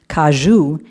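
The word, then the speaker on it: caju: I'd always known the cashew, which is pronounced kajou in Portuguese to be a nut.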